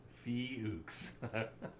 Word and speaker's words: Fuchs: say his name because i keep wanting to mispronounce it see how did you fee hooks otherwise i was going to call him [